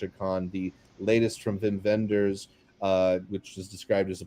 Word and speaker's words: Wim Wenders: I believe it's Wim Wenders is how it's supposed to be Vim pronounced. Vendors? Okay, so both A V's.